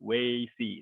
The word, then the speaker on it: Weixi: You can remember it as a way to see. Weixi. That's how you pronounce it.